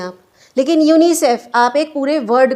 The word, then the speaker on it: UNICEF: जैसे आप इसको अलग अलग नहीं बोलते, UNICEF नहीं कहते, यूनिसेफ कह देते हैं, इसको यूनेस्को कह देते हैं और इसको नाटो।